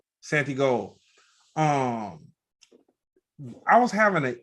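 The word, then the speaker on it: Santigold: gold or is it Santa what's the correct pronunciation Santi gold um I was having an issue connecting with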